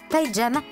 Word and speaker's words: pyjama: ton histoire en fait le mot pyjama vient de Lindy et se prononce pjama Lindy c'est la langue